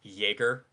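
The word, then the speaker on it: Egor: Apparently, I've learned that it's pronounced Jaeger.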